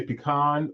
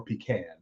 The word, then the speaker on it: pecan: Most people will say pecan or pecan. No one says pecan, except me today.